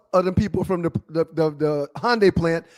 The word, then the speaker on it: Hyundai: It's Hyundai, not Hyande. Is it Hyundai or Hyundai? Hyundai real stuff. What about that Y? So you're saying the Y is silent?